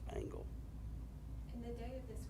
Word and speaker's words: Angel: s h a uh the last name is pronounced angle but spelled like Angel a n g e l but it's pronounced angle in the day of